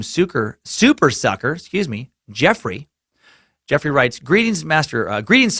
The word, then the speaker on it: Geoffrey: this this time suckers name is spelled the same way just GE o FF ar e Y which is pronounced Geoffrey and I guess people